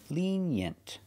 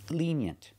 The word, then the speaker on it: lenient: lean yent together lenient put the stress on the first syllable lenient lenient so to describe a